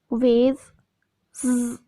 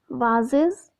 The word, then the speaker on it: vases: Vase, S. Bath, S. Most, S. Fuse, Z. Bus, S. Vases, Z. In British pronunciation, this word is vases, and in American pronunciation, this word is vases.